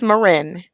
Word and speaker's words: Maryn: Maryn. I knew it. I knew I was going to. Okay. All right. It's pronounced Maryn.